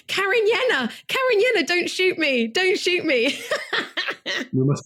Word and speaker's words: Cariñena: beautiful bottle of mainly Carignan. Oh, I said it wrong. Cariñena.